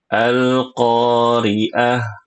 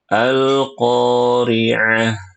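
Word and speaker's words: القارعة: Ainnya bukan ain itu Hamzah. Ibu bacanya gini nih tadi. Alqoriah. Malqoriah bacanya gitu. Oh, harusnya alqoriaah. Malqoriaah.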